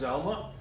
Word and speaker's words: ZLMA: ZLMA, pronounced Zelma, ZVM and Linux Modern Administration.